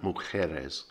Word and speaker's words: Mujeres: point mujeres means women the key things to note are that the j becomes a sort of sound mujeres and of course there's the push on the penultimate syllable so it's not mujeres it's mujeres punta mujeres now we